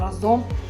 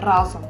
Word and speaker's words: разом: найпоширеніших помилок є наголошування наголос у слові разом завжди падає на перший склад часто чуємо що ми щось робимо разом а правильно наголошуються разом при використанні слова вибачаюся